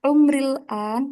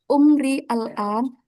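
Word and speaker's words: عمري الآن: Nah, kalau saya yang jawab, berarti umril an. Nah, ini kan aslinya teman-teman cara bacanya umri al an. Tapi biar biar cepat kita wasalkan aja, kita sambung.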